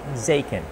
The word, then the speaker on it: Zaken: Zaken. That's how you pronounce it.